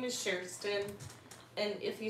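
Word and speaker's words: Kerstin: asking me if IO no my name is Sheron and if you spelled it wrong I wouldn't be mad at you because it's spelled it's a Swedish name so KJ yep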